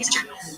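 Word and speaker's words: יששכר: of correct Hebrew grammar, the name is pronounced Yisachar, with 1 sin.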